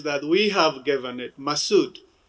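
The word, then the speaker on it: Masoud: hero commander massoud chief masood but let me pronounce his name in purity without all these adjectives that we have given it masud masood in arabic persian means the person of high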